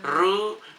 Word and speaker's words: roux: Roux, duxelles, beige. Oh, aku pernah Rhubarb. bikin. Lah, terus kamu menyebutnya apa? Roux Selanghishu. itu. Oh, bacanya roux ya? Iya dong, dari Prancis. Oh.